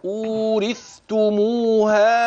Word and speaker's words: أورثتموها: الجنة، وتلك الجنة التي أورثتموها، المد المنفصل، ومعك ما يظهر من تقارب رواية في كلمة أورثتموها، بيان الثاء من التاء جليا مع عدم السرعة عند النطق، هكذا أورثتموها بما كنتم، الإخفاء الحقيقي، كنتم تعملون.